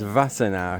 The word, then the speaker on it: Wassenaar: I think it's pronounced Wassenaar because I think the W is a V, but I know it is in German.